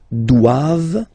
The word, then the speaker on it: doivent: All right, and then the last one, ils doivent. So same thing, classic ending for the plural form, E-N-T here, okay, but then you don't pronounce it. Doivent, doivent, elles doivent, ils doivent, elles doivent, okay?